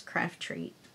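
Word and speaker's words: Craftreat: or craft treat c-r-a-f-t-r-e-e-a-t so there's only one t so it's craft treat just to make it easier to pronounce pronounce I'm sure oh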